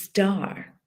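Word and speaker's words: stair: when we know what star means in english in irish we pronounce it star star na heron is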